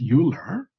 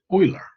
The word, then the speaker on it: Euler: And in honor of his heritage, it's not pronounced Euler, it's pronounced Euler. So it's not anglicized.